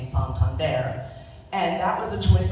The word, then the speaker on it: Santander: When they first get here, they'll pronounce it the English version way of their name. Santander, for example, became Santander.